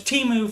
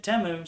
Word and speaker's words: Temu: Thought it was Temu forever, but Super Bowl ad, they pronounced it Temu.